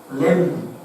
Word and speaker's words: lamb: LAMB 램 B는 묵음이죠. 사일런트. 어린 양은 어디 있나이까 하니 아브라함이 이르되 내 아들아 번제 헌물로 쓸 어린 양은 하나님께서 자신을 위하여 예비하시리라.